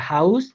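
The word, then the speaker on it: Haus: আর হাউস, হাউসের ক্ষেত্রে এসটা আমরা সবার লাস্টে পাইছি এবং এস এর পরে কোনো বাওয়েল নাই, এই জন্য এস এর মতোই উচ্চারিত হয়েছে।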